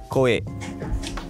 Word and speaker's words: Kohei: Est-ce que je prononce bien votre prénom? Koe. Koe. Ouais, K-O-H-E-I.